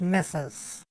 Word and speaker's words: Ms: Miss Patty Mrs Patty it's not mistress it's Ms and yeah I'm saying